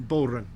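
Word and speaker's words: bodhrán: Bow run. How do you spell it? It's Bohran, I think, is the English. Bull run. Bull run. Yeah, bow is cow, so it's cowhide.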